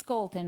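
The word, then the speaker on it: Scholten: thank you thank you it's Scolton I said it right yeah you know what I thought of in Minnesota we say Vikings we say skull and so I was thinking Scolton yeah oh got it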